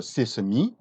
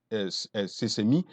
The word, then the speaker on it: sesame: En anglais, c'est la même écriture, mais on prononce sesame. Donc, si vous voyez, même écriture, mais sans accent aigu, sesame, c'est le nom en anglais.